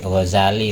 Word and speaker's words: Ghazali: Makanya dijuluki Gazzal tukang nenun pakaian dan ada yang bilang tanpah tasdid Ghazali bacanya karena nisbat ke wilayah Huzala yang ada di daerah Tus Iran. Nah, beliau dari sana dari Attusi. Attusi Ghazali kalau jadi sama-sama bisa dibaca tanpa tasdid.